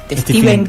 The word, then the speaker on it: Stephen: el cuento novel de Steven King. ¿Sabes que ahora estoy que tengo pronunciación? Me corrigieron que no se dice Stephan, se dice Steven.